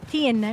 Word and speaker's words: Tin: Is it Tenet? Am I pronouncing it right? Or I think Tin? it's Tin. Kasi di ba?